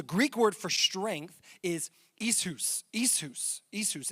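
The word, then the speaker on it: ἰσχύς: word for strength is isus isus isus and it doesn't look like that if you were to spell it out but that is how you would pronounce it isus and it literally means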